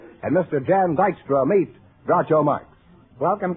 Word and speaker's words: Jan: How do you pronounce that, Jan? Jan, that's right.